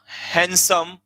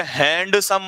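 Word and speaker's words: handsome: There was oblique were, there was oblique were a हैंडसम। इसे हैंडसम मत बोला करो, हैंडसम। डी इसमें साइलेंट होता है, बोल के दिखाना।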